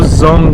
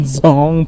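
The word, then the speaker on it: Dzong: So the Zong's spelling is the D-Z-O-N. So D is silent out here guys. So इसके लिए उसको Zong बोला जाता है.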